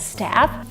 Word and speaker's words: staff: So in terms of pronunciation, staff is like, if you pronounce it in a very American way, then it's staff.